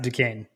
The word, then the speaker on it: Duquesne: I'm fairly confident it's pronounced Duquesne. Duquesne? Yeah. I don't have Scott Howard saying it, but I believe that's correct.